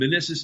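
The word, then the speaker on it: Minisis: And Menissus is spelled M-I-N-I-S-I-S, like man ISIS.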